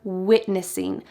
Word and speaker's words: witnessing: At the beginning of this clip, he says, "We are witnessing," but he doesn't say it with a clear W like that. Instead, he uses a V sound.